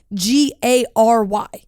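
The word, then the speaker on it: Gerry: Gary because it says it says g-e-r-r-y is how he spells it but then it says pronounced like g-a-r-y g-a-r-y is Gary yeah that's Gary yeah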